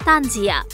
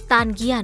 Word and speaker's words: তানজিয়া: এ বিষয়ে মিথিলা স্পষ্টভাবে জানিয়ে দেন তার নামের উচ্চারণ তানজিয়া। তানজিগিয়া নয়।